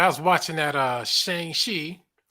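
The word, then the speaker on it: Shang-Chi: was watching that uh Shang shei that's how they pronounce it in the movie Shang she Shang shei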